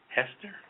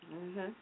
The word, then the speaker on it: Hastert: His name is Dennis Hester. Hastert. Hastert. Yeah, Hastert. Like bastard. Oh, excuse me. This gentleman was Yeah, rhymes with that.